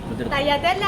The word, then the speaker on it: tagliatelle: Allora, this one is tagliatelle alla bolognese. How do you pronounce this? Tagliatelle alla bolognese.